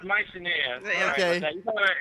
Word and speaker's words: Mycenae: Yeah, it's pronounced Mycenae.